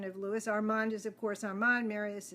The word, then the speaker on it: Armand: it's lat and Louie is Louie the French pronunciation of Louis Armand is of course Arman Marius is Marius I'm